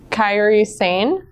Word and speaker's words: Kairi Sane: Mandy Rose, Lita, Kairi Sane. Am I pronouncing that correctly?